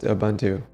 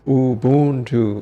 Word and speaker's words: Ubuntu: You're saying it wrong right? What is it all? It's Ubuntu. Ubuntu. Ubuntu.